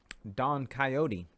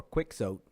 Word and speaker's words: Quixote: Terry Gilliam, long-awaited Don Quixote, or Quixote, depending on how you pronounce things, receives his first trailer.